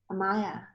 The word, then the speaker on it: Amaya: Amaya. Amaya. Oh, okay, because it's all together.